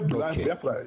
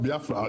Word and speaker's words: Biafra: If you say Biafra, it's not Biafra.